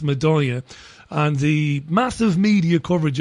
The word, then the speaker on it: Madaya: the Syrian town of Meda or madaa I think it's pronounced madya and the massive media